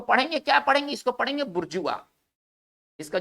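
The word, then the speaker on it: bourgeois: इसका देखिए ये थोड़ा सा फ्रेंच वर्ड है, इसका उच्चारण हम अलग से करेंगे, ठीक है ना।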